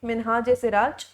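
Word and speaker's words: Minhaj-i-Siraj: आई को बेटा पता है, संस्कृत कह रही हूँ, हिस्ट्री में आई को हमेशा ए के फॉर्म में प्रोनाउंस किया जाता है। जैसे आप हिंदी में ए लिखते हो ना, इसी तरीके से इंग्लिश में इसके लिए आई वर्ड का यूज किया जाता है।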